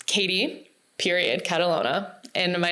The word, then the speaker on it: Catalogna: Um, it's Katie period Catalona and my name is K A T I no E. And there's also a silent G in my last name, so you'll have to figure out everyone.